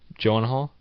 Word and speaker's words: Gyllenhaal: Gyllenhaal? Yeah. Dude, you say stuff. No, I've never tried to pronounce it.